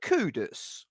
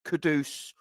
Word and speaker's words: Kudus: kudus and Charlie Taylor are you kudus or are you kadus or Kudos how do you guys pronounce it I me I I speak as I find it KU u d s kudus that's that's that's me it could be wrong it could be that the G Ganan pronunciation is kadus or Kudos or whatever I mean kudos for me would be an O wouldn't it I don't know but